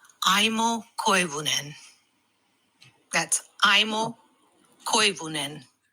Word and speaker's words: Aimo Koivunen: Aimo Koivunen. That's Aimo Koivunen. Aimo Koivunen.